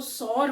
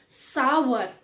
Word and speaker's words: sour: Sour, बहुत से लोग इसको सॉर बोलते हैं। The correct pronunciation is सावर।